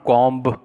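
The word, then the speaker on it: comb: Then लीजाज कॉम, this is नॉट कॉम्ब, कई बच्चे इसको कॉम्ब पढ़ते हैं, इट्स नॉट कॉम्ब, इट इज़ कॉम, कॉम, B silent, लीजाज कॉम।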